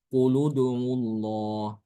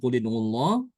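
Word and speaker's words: قل ادعوا الله: dengan kata sebelumnya ya Ini bukan dengan kasrah tapi dengan domah ya jadi bacanya quludullah seperti ituudullah ini membedakan dengan Imam hafz ya ya kedua-duanya sama-sama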